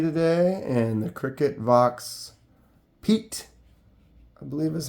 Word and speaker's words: Piet: We got that Morakniv Pro C today and the CRKT Vox Piet, I believe is how it's spelled, P-I-E-T, but I looked it up, kind of looks like it's pronounced Piet, not Piet.